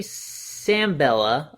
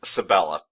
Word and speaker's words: Sabella: Nathan Lane and Ernie sambella I believe I'm saying that name wrong so Sabella but you were close yeah I was close